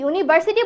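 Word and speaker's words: university: বলছি ইউ উচ্চারণ হচ্ছে যখনই ইউনিভার্সিটি বলছি ইউন উচ্চারণ হচ্ছে বাট আনফরচুনেট বললে আ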